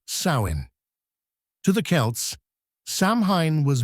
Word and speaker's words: Samhain: On the night of October 31st, the Celts gathered around roaring bonfires for a festival they called Samhain, pronounced Samhain.